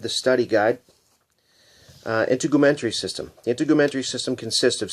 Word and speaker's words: integumentary: you may have noticed that I've been saying in to Goethe mentoree it's a integumentary is the correct pronunciation probably going to find a few mispronunciations